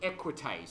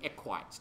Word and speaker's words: equites: class in Rome as the equites or the equites depending on how you pronounce it now these guys were